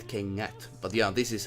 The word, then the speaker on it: kengät: They connect to each other, and you don't say kengät, you say kengät, and that is how it works. It's not like an put together. It's not like you have two ands. It is much more smooth. It's like kengät. You know, it's if you have kennät, it's different than kengät.